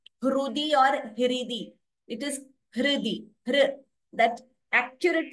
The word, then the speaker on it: हृदि: So this R should be pronounced as the swara itself, not like Ri or Ru. It is not Hrudi.